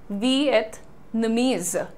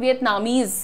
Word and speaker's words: Vietnamese: और प्रोनाउंसिएशन क्या हो जाता है यहां पर, इट is very simple, वियतनामीज, इट इज नॉट वियतनामीज, इट इज नॉट वियतनामीज, क्योंकि कंट्री का नाम डेफिनेटली वियतनाम है।